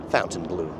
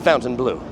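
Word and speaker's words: Fontainebleau: it is not the fountain blue is pronounced differently I beg to differ if it's pronounced in French it is pronounced differently but this hotel calls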